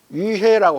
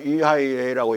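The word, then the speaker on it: 威海: UIA 가보면 위해라고 하고 중국말로 위하이라고 읽는데 거기 섬에 들어가면 그 당시에 중국이 만든 전함이 증기선 전함이야.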